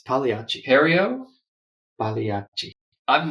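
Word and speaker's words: Pagliacci: you were wrong it's the g is silent so what are you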